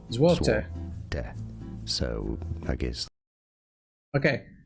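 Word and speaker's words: złoty: Well, in English this is generally said, in all fairness, as zloty, zloty, the Polish zloty. But in Polish, this is said as złote, złote, Złote.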